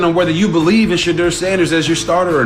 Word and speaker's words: Shedeur Sanders: It's Shedeur Sanders. Tell me how you really feel about RG3. For the love of God, it's Shedeur Sanders.